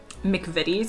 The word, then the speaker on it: McVitie's: This is brand name, McVitie's, I think is how you say it.